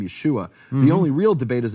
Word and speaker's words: Yeshua: there's no and there's there's no other way to pronounce it Yeshua Yeshua it's written right there with the vowels and I am the